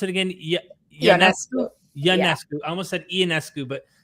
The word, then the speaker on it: Ionescu: How do I pronounce it again? Yanescu.